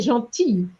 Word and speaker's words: gentil: However, you said gentil, and the L here is silent. Yes. So, était un homme strict, mais gentil.